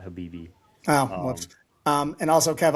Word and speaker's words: Khabib: have I been pronouncing his name wrong this whole time? What have you been pronouncing it I've been as? saying Khabib. Yeah, that's wrong. It's Habib. Isn't there a K in